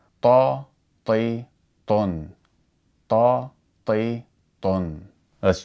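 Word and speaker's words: طِ: So the letter ta with a kesra would be pronounced ti, ti.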